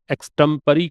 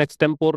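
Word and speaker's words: extempore: Impromptu मतलब होता है बिना तैयारी के, एक्सटेम्परी कभी सुना होगा आपने, वही है ये इम्प्रॉम्प्टू। ये होता है ना एक्सटेम्परी, इसका प्रोनाउंसिएशन एक्सटेम्पोर नहीं होता, एक्सटेम्परी होता है।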